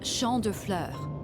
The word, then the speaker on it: Champs de Fleurs: How do you say that? It's Champ de Fleurs.